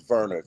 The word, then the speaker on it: Werner: Um, it's it's Warner, but it's spelled Werner. It's on the screen. Wer ne, but it's Verer cuz you know he German.